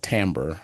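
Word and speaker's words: Timbre: music projects was called Tambber um spelled t i m r e. A lot of people pronounce it timber, but it's actually pronounced tambber.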